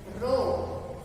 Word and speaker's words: rho: Rho, we have to pronounce this as like this, rho or HO, rho, and that is represented